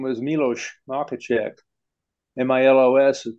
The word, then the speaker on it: Miloš: But the S in their language is pronounced like an SH. Mm-hmm. We had one of the guys that worked for us, PhD, was a, his name was Miloš Makacek.